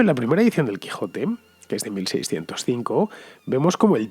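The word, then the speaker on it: Quixote: la mancha' pero claro con esa equis pronunciada como j porque la equis tenía esa posibilidad en aquel entonces de hecho conoceréis a alguien que se apellide ximénez por ejemplo o lo habréis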